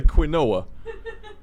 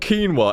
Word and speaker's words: quinoa: that particular instance is quite clearly quinoa it's not quinoa in the same way that you quintuplets or whatever it's quite clearly Quinn it's quite clearly Quint it has Quinn in the name quu i n it's Quinn not keen what if they're really